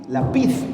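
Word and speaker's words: לפיד: eh el palabra tea proviene del hebreo lapid lapid con el acento en la i Y esa palabra lapid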